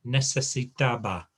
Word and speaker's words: necesitaba: to work on is make sure you sound every letter in every word. So necesitaba. Okay. I think you have a tendency to, when you come to a long word, miss a chunk out in the middle.